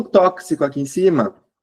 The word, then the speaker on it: tóxico: É o X com som de KS, tá? É esse X que faz Xi, é o tóxico, o táxi, o tórax. Esse X com som de KS é um som a mais.